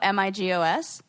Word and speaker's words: Migos: Rap trio, Migos. Oh, it really is like Amigo.